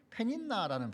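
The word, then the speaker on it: פְּנִנָּה: 이 브니나라는 단어의 원래 히브리어 원어는 페닌나라는 발음으로 되어지고, 그리고 이 페닌나는요, 어두움이란 뜻의 핀나에서 나왔습니다.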